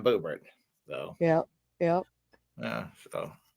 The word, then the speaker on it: Boebert: Boobert. Yep. Lauren Boobert. Yeah, is that how you pronounce it? I No. was I just wanna say boob. yeah, yeah, she is quite she's quite something. That's Lauren Boebert.